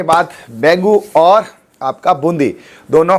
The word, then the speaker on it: बेंगू: देखो कुछ लोग बैगू बोलते हैं। कुछ लोग बैगू बोलते हैं। तो सही सही प्रोनंसिएशन क्या है? सही प्रोनाउंसिएशन तो बेंगू है। है ना? लेकिन कुछ है ना पुराने लोग बैगू भी बोलते हैं।